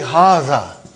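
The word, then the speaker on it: هذا: See, it is pronounced like haza. But this alif is not written.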